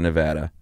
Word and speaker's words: Nevada: You never know what they're going to do out there in Nevada.